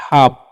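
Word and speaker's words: half: इसका चरण ह और ए जो है इसका आकार और एल का साइलेंट होता है एफ से फ नहीं प करना है। ठीक है? तो इसे हम लोग पढ़ते हैं हाफ।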